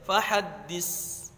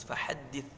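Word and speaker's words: فَحَدِّثْ: terjadi kesalahan fahaddits tagnya Jangan dibaca Fahad this Jangan dibaca SIM harus fahaddits sesuai dengan makhraj saatnya Hai itulah untuk eh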